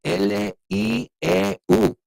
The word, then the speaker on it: lieu: And this next thing, in lieu of, and it's interesting because lieu se escribe L-I-E-U. What? Lieu? Yeah. Pero se dice lieu como el nombre Lou, right?